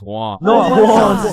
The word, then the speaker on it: Juan: That's just how it's pronounced. Jan. Is there Jawan in the room? It's Juan.